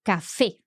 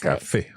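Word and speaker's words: café: yeah so for example in a word like Cafe we know exactly where to pronounce that accent Cafe okay yes and uh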